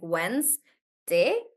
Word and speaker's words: Wednesday: syllables in the word so if you look at the example of Wednesday guys if you look at the number of vs one 2 three there are three vowels if you look at it like that but the number of vows sounds like Wes day two yeah they just now